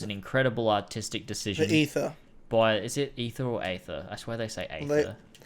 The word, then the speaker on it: Aether: Everyone calls it the ether. Okay, good, because I was going out of my way to say aether when ether comes more naturally.